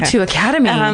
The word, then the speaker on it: O2 Academy: gonna be at the is it the o2 Academy is that how you pronounce it yeah though two Academy two Academy basically just go to